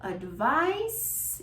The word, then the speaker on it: advice: Advice is pronounced with an S sound and is spelled with an C, with a C, is a noun, uncountable noun.